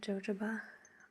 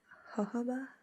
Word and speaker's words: jojoba: choice all right so i always pronounce this wrong i used to call jojoba it's jojoba i think oil so you